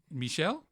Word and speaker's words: Michel: Is that how you say it? Michel? Yeah, okay. Yeah, he's French. Oh, I was saying, because when it comes up, it looks like Michael Gondry to me.